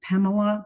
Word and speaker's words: Pamela: often use here is my name Pamela it's got three syllables the middle syllable is the unstressed one so it's got an